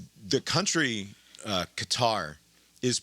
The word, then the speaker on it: Qatar: I can't find I cannot find a consistent pronunciation of that that country. I just go with cutter because so so less so with so is how many?